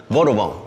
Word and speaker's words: Vadouvan: We call it Vadouvan. Three syllables, right? Vadouvan.